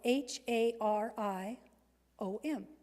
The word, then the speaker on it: Hari om: the Mahari om when I say it it is spelled h a r i o m Hari om this is the one that came